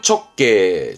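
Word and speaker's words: 直径: 직경. 발음은 척게, 척게, 반경, 반지름의 한께 정도면 되겠습니다.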